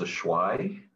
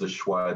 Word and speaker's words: Ashwi: and my name is ashwai the first that's like my real name a lot of people mispronounce it uh they messed up my name but um it's a schwa the first and um i'm